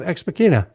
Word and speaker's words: Ex Machina: So after you pre-order your book, you can send him an email, and he will send you a hard copy of Ex Machina, if I'm pronouncing that right.